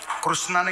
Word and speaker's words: कृष्ण: कळेल का एका जन्मात कृष्ण कळणं अवघड आहे राम कळणं सोपं आहे कृष्ण नावच उच्चारण अवघड आहे अर्ध्यायला कृष्ण कृष्ण कृष्णा कृष्णा येतच नाही म्हणायला जिभीला आडा पडते कशामुळे ते देवच अवघड